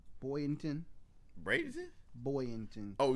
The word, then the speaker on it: Boynton: Bynton. Boynton. Bradenton? Boynton. Oh, not Florida. You're talking about somewhere else? No, down South Florida. Oh, they moved to. Yeah, they were moving from Jersey. Boynton Beach.